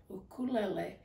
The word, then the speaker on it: ukulele: So there we have it, ukulele. And that's the correct pronunciation of it.